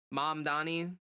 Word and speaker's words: Mamdani: Then if it's not a Mamdani, okay, so I said his name improperly. Then, did you spell it wrong on accident, or were you making fun of the way that I said that? Mamdani. How is it? Hold on. Yeah, it's Mamdani. Okay, I just wanted to make sure.